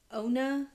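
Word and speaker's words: Ana: She's actually the instructor of her yoga class and her name is Ona. It's spelled A N A, but she is very assistant that you pronounce it Ona.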